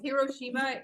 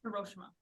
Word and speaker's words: Hiroshima: It's Hiroshima in English, but in Japanese it's Hiroshima. Hiroshima. So both. Both. Yeah, I mean, Both are technically right.